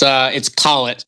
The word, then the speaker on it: Collet: It's Collet, like whatchamacallit. Whatchamacallit.